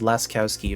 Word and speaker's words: Laskowski: It's pronounced Laskowski, apparently, versus Sotaleer.